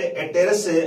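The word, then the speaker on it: apterous: ध्यान रखें तो मेट्रोप्टेरस, ब्रैकिप्टेरस एंड एटेरस हम इसे कहेंगे, पी इसमें साइलेंट रहता है यहां पर, तो ये यहां डिवाइड कर सकते हैं ऑन the basis of wing.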